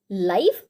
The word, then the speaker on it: live: Spelling same है लेकिन pronunciation different है और मीनिंग भी डिफरेंट है. Next example is LIVE लाइव एंड LIVE लिव.